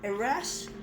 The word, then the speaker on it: Eras: color in it uh IRAs sounds like error eras sounds like er error for some reason it sounds like the word error uh I do think